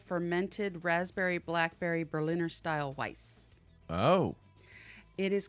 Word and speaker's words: Weiss: degrees Fahrenheit huh it's refrigerator weiss or vice however you want to pronounce it I suppose I don't know I know what the proper pronunciation is so making a vice you know and I